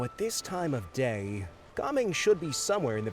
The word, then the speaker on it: Gaming: Also, dann sagt wirklich die Aussprache Gaming. Obwohl, er hat das A ein bisschen lang ausgesprochen. Gaming. Als wäre er, sagt, nur ein H dabei.